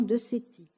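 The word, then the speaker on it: Decety: mal, l'équité et l'injustice, que le neuropsychologue Jean Decetti, ça s'écrit D-E-C-E-T-Y, de l'Université de Chicago, est parvenu à cette conclusion.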